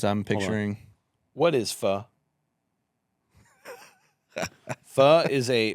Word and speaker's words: pho: Pho is which by the way is spelled PHO, but don't say pho because you're going to look ignorant. People have taught me it's pho.